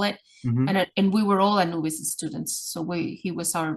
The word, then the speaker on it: Anubis: And she's trying to pronounce his name, Anubi. And I was like, Anubis? And she's like, yes, he's here.